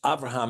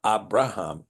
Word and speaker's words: Avraham: Okay, Cloud asked the question, why we use Avraham and not Abraham in the Cepher? And it has to do with the pronunciation of the bait in the word, in the bait.